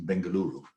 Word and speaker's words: Bengaluru: Yeah, you've done really well in Bengaluru. Yes.